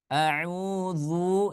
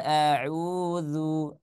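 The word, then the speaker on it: أعوذ: ya dari Fatul hurufnya kalau huruf Dal dia tipis kalau huruf do dia tebal Maka kalau kita bacanya a Qul auudu Zu maka itu tebal audu itu tebal tapi kalau kita bacanya dengan tipis maka dia menjadi huruf dalzal Qul audzu dzu Nah ya seperti itu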